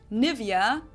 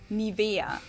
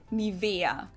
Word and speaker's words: Nivea: English native speakers usually say Nivea, Nivea. In German, we say Nivea, Nivea. So the emphasis is on the E, Nivea.